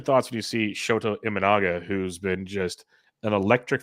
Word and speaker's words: Imanaga: I'm going to put this on but shto imaga is how they pronounce it on TV not imaga it's imaga so he's been absolutely amazing 084 er um